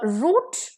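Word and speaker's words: route: तो next is अ रूट versus राउट okay a आरओ यू टी ई रूट जिसमें ई है इसका मतलब है कोर्स पाथ रास्ता by which रूट you came here कौन से रास्ते से आप यहां आए हो आर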